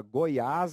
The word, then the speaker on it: Goiás: escrever a palavra aberto aliás essa palavra Goiás é uma palavra oxítona e o que se